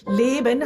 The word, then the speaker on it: Leben: Yeah, you feel Leben has 2 syllables.